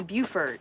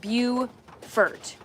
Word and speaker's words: Beaufort: Beaufort is pronounced Beau-fort, beautiful fort.